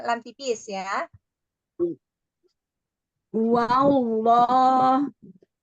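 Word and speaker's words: والله: Wallah. Hati-hati tidak wawullah, tapi wal.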